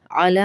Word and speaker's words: علی: علی ابراہیم، علی ابراہیم۔ علی میں عین آئے گا، الا نہیں آئے گا، حمزہ کی آواز نہ آئے۔ وعلی، یہاں بھی حمزہ